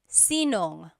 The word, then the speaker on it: sinong: If you have sino ang in a question, you might hear sinong.